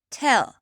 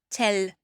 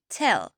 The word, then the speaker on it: tell: Ils disent tell, vous voyez, c'est pas tell, c'est tell. On a presque l'impression qu'il y a pas vraiment de l qu' a une espèce de je sais pas une consonne bizarre à la fin.